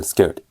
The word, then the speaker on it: scared: 그래서 scared 사음절로 발음하는 게 아니라 그냥 scared 이런 식으로 발음을 해주고 보시면 이제 진하게 된 게 첫 번째 오는 게 scared of.